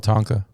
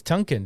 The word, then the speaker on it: Tonkin: Gulf of Tonka. Tonka. I think it's Tonka. Have I been saying it wrong the whole time? I think it's Tonkin, dude. Gulf of. When I first heard about it, I thought it was Tonkin.